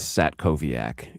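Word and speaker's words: Satkowiak: It is Sat Koviac. It is the weird Eastern Eastern European W pronounced as a V and it confuses everyone.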